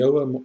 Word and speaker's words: Ogham: This is going to be around Old Irish alphabet, which is known as the Ogham or Ogham, you can pronounce it whichever way you prefer, alphabet, which in one of its forms, primary form, consists of 20 letters.